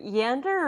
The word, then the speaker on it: Yander: Sorry, Yander or Vander? Yander. Yander. Yander. Like over Yander. Yeah. Not how you say it, but yeah. Like meander.